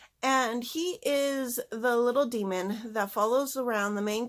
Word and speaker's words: daemon: he was called a daemon because I did not pronounce the AE sound but I looked it up and it's pronounced demon and basically they're these